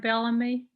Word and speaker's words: Bellamy: The Preservation North Carolina also owns and operates Bellamy, I'm sorry. Did I pronounce that right? Bellamy?